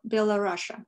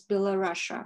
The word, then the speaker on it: Belarus: a couple words about why we say belarus or bella russia sometimes in the soviet times uh the common pronunciation in english i believe was below russia the below russian soviet